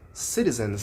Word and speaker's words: citizens: A questão da pronúncia citizens, ela deu uma puxada bem forte em citizens.